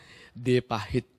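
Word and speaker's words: De Pahit: Jadi orang di luar pasti akan bacanya The Pahit. Enggak, bukan The Pahit ya. Kan yang paling bener The Pahit dong. Karena di sini kan mengambil nama Bali ya. D pahit, nggak D pahit seharusnya ya.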